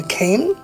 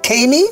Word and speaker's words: cane: Then ka-in cane. Ma-in mane. Do you pronounce it as many or main?